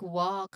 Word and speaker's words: walk: Words like walk have a silent L, right?